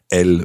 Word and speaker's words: elles: And of course, elles vont. Elles vont. And just to remind you that il and elle there have a silent S on the end. I-L-S for il, E-L-L-E-S for elle.